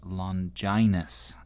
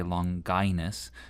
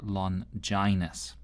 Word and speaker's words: Longinus: So as you may have heard, his name is pronounced "Londjainus." For a long time i used to say "Long Ginus." But I gather that's actually incorrect, so "Londjainus."